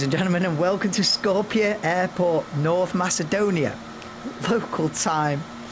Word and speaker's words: Skopje: Good evening, ladies and gentlemen, and welcome to, hang on, I had to Google how you pronounce it. Skopje. Good evening, ladies and gentlemen, and welcome to Skopje Airport, North Macedonia.